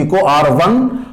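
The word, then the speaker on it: EcoRI: दिया गया है इको आर आई फर्स्ट, जिसको प्रोनाउंसिएट करते हैं इको R1।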